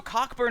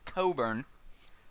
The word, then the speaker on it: Cockburn: is burning um so cockburn is an english name pronounced coburn um but cockburn was